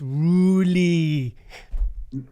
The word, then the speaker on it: Roelly: It's Roelly. Well, properly, I've heard his family say his name, and they do this thing in their throat, the back of their throat, Roelly. So that's probably the correct way to say it.